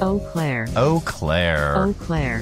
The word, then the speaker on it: Eau Claire: How do you pronounce that? Eau Claire.